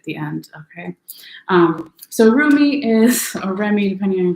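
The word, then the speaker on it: Rumi: yet um but anyway you're remy or roomy depending on how you like to pronounce it oracle card for this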